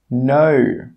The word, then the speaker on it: know: When the letter K is before the letter N, the letter K is normally silent. Some common examples are knit, knock, know, knowledge, knack. In all of these words, we're not pronouncing the K sound.